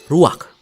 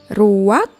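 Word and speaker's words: רוח: dalam bahasa ibraninya adalah ruak ruak ya benar tenggorokan kita harus benar-benar bersih di akhir pengucapan jadi apa itu Ruak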